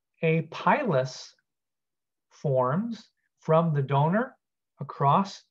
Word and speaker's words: pilus: occurs across something called a sex pilus, or some people pronounce it pilus.